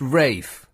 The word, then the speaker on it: Ralph: like bey um oh there's all sorts of uh uh posh words that uh Orthrop spell or thorp pronounced all thrup Ralph pronounced rafe you know mlin college